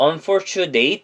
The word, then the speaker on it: unfortunately: 그 중에서도 for이라는 부분에 강하게 발음을 하면서 강세를 주면서 발음을 해주셔야 되는데요. 나머지 부분은 강세가 없다 보니 발음을 좀 약하게 해주는 경향이 있습니다. 대표적으로 unfortunately 할 때 nately 부분 보이시죠? 이거를 약하게 발음하면 nately라고 발음을 하는 게 아니라 nilly라고 해가지고 편하게 발음해 주시면 되는 거예요.